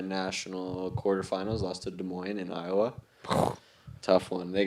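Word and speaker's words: Des Moines: quarter finals lost to De Moine in Iowa tough one they get a good crowd out there actually yeah de Mo yeah desmine as the locals say that's uh what a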